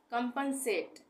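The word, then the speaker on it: compensate: इसको इस तरह से लिखेंगे डिस्क्रिमिनेशन डिस्क्रिमिनेशन इसका उच्चारण होगा डिस्क्रिमिनेशन अब है कंपन सेट कंपन सेट इसको हम सीओ एम एक साथ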